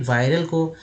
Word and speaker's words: viral: पूछेंगे कि भाई वायरल का जो स्पेलिंग ये है VIRAL, इसे वायरल क्यों पढ़ रहे हैं, इसे विरल क्यों नहीं पढ़ रहे हैं?